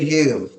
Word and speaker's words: Hume: Fun fact, did you know David Hume? Actually, his name was spelled with an O, H O M E, but he changed it to Hume because everyone was pronouncing his name wrong.